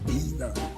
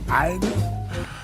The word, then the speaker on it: either: You say either. I say either.